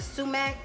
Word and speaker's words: sumac: And then here I have a 1/2 teaspoon of basil, a 1/2 teaspoon of sumac. I may not be pronouncing that right.